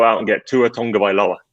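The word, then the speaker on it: Tagovailoa: and get to a tonga by law uh to pronounce it as i hear you're supposed to this week is a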